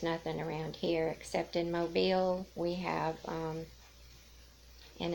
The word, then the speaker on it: Mobile: call it that too, because it's spelled the same thing as your mobile phone. Or what it used to be called, mobile phone anyway. But anyway, it's called Mobile, Alabama.